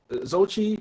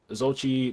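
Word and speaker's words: Xochitl: But Zochi, like I will say, because that's I believe that's how you say her name.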